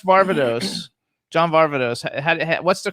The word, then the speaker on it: John Varvatos: do you how do you how do you pronounce barbados john varvatos what's the correct pronunciation that's exactly you just